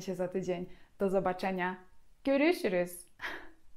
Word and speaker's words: görüşürüz: To jest słowo dość trudne, bo zawiera zarówno się, jak i umlauty. Więc na zadanie domowe poćwiczcie. Poćwiczcie sobie wymowę tego słowa, a jest to słowo görüşürüz.